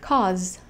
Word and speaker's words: cause: Esta palabra termina en una vocal, pero el último sonido que escuchamos es el sonido de una Z. Cause. La S en esta palabra se pronuncia como una Z.